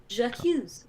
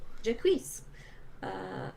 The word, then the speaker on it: Jacques: Yeah, that is Jacques, by the way. That's how you pronounce that. Jacques. Jacques.